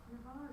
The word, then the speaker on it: Navarre: Navarre is pronounced Navarre with a short sound, like in the word apple. There is no H sound at the beginning of the word.